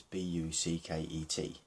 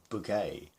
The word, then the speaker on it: Bucket: But for the sake of making themselves a bit more important, that they would they would change the pronunciation. Bouquet, Battersea. It's not going to work, man. It's Bucket and it's Battersea.